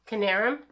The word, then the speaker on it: Knierim: something from i l canarum which i call illinois canarium which is jason canarum yeah so anyway and the k is not silent we figured that out